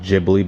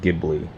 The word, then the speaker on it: Ghibli: with the Maserati gibli I thought it was pronounced jibli but I've learned it's pronounced gibli uh which if in